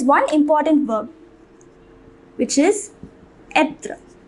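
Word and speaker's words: être: But there is one important verb which is etre. It is pronounced etre.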